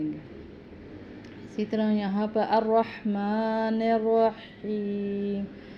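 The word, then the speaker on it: الرحمن الرحيم: اسی طرح یہاں پر الرحمن الرحیم، یہاں پر بھی دونوں ہا جو ہیں وہ حلق سے ادا کیے جاتے ہیں، میم کو کھڑی زبر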